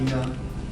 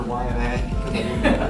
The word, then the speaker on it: Ina: This is Ina. I used to call her YNA because I didn't know how to say her proper name, but it's definitely not YNA.